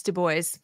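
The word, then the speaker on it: Du Bois: booys I'm sorry Chris Wood I I said de Bois and it's de boys I say deis too so I me I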